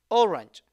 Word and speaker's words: orange: all range so prove we pronounce it as the sound J okay this is ger and this is J yogurt orange okay do you understand